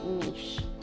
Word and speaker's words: niche: niche a lot but we use a softer pronunciation and say niche this next phrase